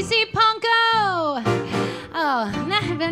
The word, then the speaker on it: Pankow: Rhymes with bronco, simple as can be, see Panko!